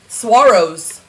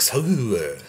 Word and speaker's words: saguaro: Saguaros.